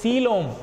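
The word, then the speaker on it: coelom: c o e l o m that is c loam correct pronunciation okay body cavity some animals till platyhelminthus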